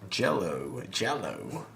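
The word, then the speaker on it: giallo: Jello. It's the Italian word for yellow, Right. which I'll get into that. Later, why that is. So if you're familiar with Jello films, then look forward Italian porn to our films.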